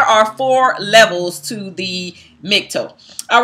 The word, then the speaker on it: MGTOW: You can't just go around and say that you are a MGTOW, right? And that's the way that the acronym is pronounced.